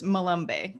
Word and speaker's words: Malombe: spelled easily enough but it's malumbay correct malombe so my apologies um